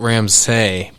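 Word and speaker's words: Ramsay: So it's spelled Ramsey, but it's pronounced Ramsey.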